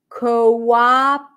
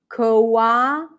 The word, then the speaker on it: cooperate: okay what about this listen closely cooperate cooperate here we have two o's that represent two vowel sounds listen Co a CO o is in go and then a is in Father COA practice it with me cooperate so it's not cooperate Co it's not o but co co coate cooperate um I got this question